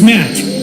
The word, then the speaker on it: Matt: The name's Matt. The second T is silent.